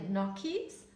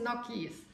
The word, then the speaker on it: Gnocchi: ich jahrelang mosino gesagt da musste in der Tat eine Italienerin kommen und mir erstmal sagen heißt moskino heißt brusketta und das heißt nokis und ich okay aber